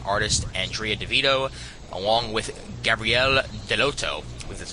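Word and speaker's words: Gabriele Dell'Otto: Writer Keith Gifin and artist Andrea Devito along with Gabrielle Deloto, that's how you pronounce it, providing jaw-dropping covers are ready to rock Marvel space to its core with this cosmic epic.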